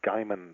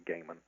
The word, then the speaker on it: Gaiman: name is Neil Gaiman I've heard my name pronounced various different ways uh Gman is very popular but it's definitely Gaiman it's the kind of name that started off